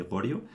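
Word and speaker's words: Goryeo: estuvo en Corea que La Dinastía De gorio que se pronunciaría corio o algo así Creo en coreano pues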